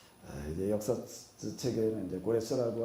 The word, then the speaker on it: 고레스: 그러니까 바벨론을 무너뜨린 피르시아, 성경에는 파사라고 이렇게 나오고 있는데 여기 이제 태조에 해당되어지는 고레스, 이제 역사책에는 이제 고레스라고 하는 것은 이게 이제 헬라어식 발음이고 영어식 발음으로 하게 되면 사이러스라고 그럽니다.